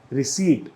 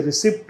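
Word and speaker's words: receipt: इसको बोला जाता है रिसीट। बहुत से लोग इसे रिसिप्ट बोलते हैं, रिसिप्ट बोलते हैं, प को जो है वो साउंड करते हैं, ऐसा नहीं बोला जाता, इसे बोला जाता है रिसीट।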